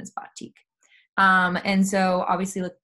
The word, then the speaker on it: batik: um so I'm saying btik sometimes they'll say btiq um but the pro correct pronunciation is batik um and so obviously like on your left